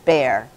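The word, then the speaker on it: Baer: And his name is Bear. He spells it B-A-E-R, but we pronounce it Bear.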